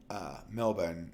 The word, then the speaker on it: Melbourne: Is Victoria the province that it's Melbourne, even though I think the Australians don't pronounce the R ever. Melbourne is how they say it, which okay, someone's gonna